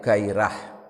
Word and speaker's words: gairah: Di ghairah ini bahasa Arab yang sudah menjadi bahasa sehari-hari, itu jadi pengucapannya sedikit beda. Bukan ghairah tapi gairah.